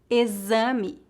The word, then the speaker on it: exame: caixa peixe enxaguar enxugar normalmente o X é pronunciado como Z quando colocado entre a vogal e e outra vogal em início de palavras por exemplo exame exemplo exótico geralmente pronunciamos o